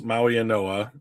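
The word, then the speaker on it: Mauigoa: So, Francis Maui Noah, the G is pronounced as an N. I don't know why.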